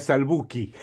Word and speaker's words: Salbuchi: En en castellano se pronuncia salbuci porque si fuera en italiano sería salbuki. Bueno, será salbuchi porque estás en Argentina.